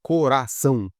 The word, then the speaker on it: coração: E essa palavra coração, coração, pode ver que o ão, ali, o são no final, a última sílaba é mais forte. Então ela é oxítona.